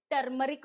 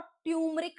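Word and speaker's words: turmeric: टर्मरिक भी होता है और ट्यूमरिक भी होता है। ये वाला जो आर है बीच वाला, ये साइलेंट भी चलता है। बोथ प्रोनाउंसिएशंस आर करेक्ट, ठीक है।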